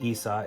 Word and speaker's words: Issa: Arabic for God and Issa is Arabic for Yeshua Yeshua is G Hebrew